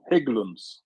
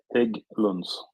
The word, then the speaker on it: Hägglunds: Hägglunds, like Hägg, like egg. Just put a H in front. Hägglunds.